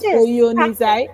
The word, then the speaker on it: Oyoenisai: It's pronounced Oyoenisai.